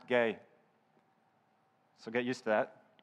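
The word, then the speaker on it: γῆ: i've been corrected on this word ghee is pronounced gay so get used to that as you know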